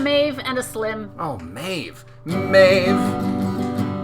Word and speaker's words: Maeve: Oh, Maeve. Maeve, your name is a pretty easy one to rhyme with the word save.